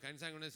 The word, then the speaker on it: consanguineous: So, always try to pronounce it as consanguineous, then you will not miss the E.